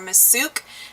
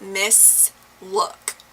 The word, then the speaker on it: Misslook: And it was by the cheap brand Miss Look, which sometimes people mistake for Miss Sook because the tags are kind of similar and it's spelled really similar, but it's Miss Look.